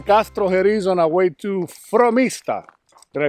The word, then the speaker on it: Frómista: We're leaving Castrojeriz on our way to Frómista. Did I say it right? Frómista.